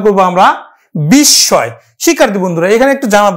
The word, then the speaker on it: বিস্ময়: এই যে ম ফলাটা কিন্তু চন্দ্রবিন্দু আকারে উচ্চারিত হবে, বিস্ময়।